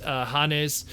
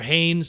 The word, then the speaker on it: Hannes: In Attack on Titan, again, very famous anime and manga, he was Hannes, or Haynes, depending how you want to pronounce it, Japanese pronunciation or American pronunciation.